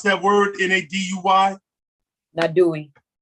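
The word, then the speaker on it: Naduy: You can pronounce that word, N-A-D-U-Y? Nadui.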